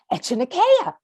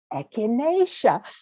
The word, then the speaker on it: echinacea: what what did you say it was called echinacea would you mind spelling that he said and i said e c h i n a c e a and he said i think most people would